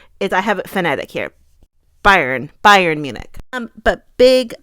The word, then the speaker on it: Bayern: of Bayern Munich it's it's not Byron like we're saying like Byron it's like Bayern Bayern Munich it's more like Bayern Munich I for some reason